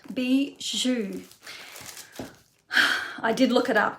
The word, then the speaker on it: bijou: how to pronounce it it is spelt b i j o u bijou is how it be zhu i did look it